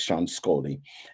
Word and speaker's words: Sean Scully: It is Sean Scully, and Sean actually is part of the family of the distillery.